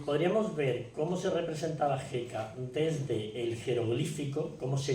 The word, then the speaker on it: Heka: ver cómo se representaba jeka desde el jeroglífico Cómo se escribía jeka que era bueno era un lacito que es la letra J la pronunciación Sería más o menos nuestra J aunque se escribe como